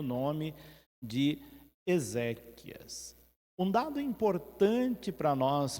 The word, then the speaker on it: exéquias: já ouvimos falar e eu já ouvi muita gente pronunciada e mal de Tá errado essa palavra já viu onde a gente Ezequias né Ezequias é nome de uma pessoa exéquias é uma celebração da